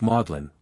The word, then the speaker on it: Magdalene: and the United States in England the word is pronounced modlin when modlin adjective unpleasantly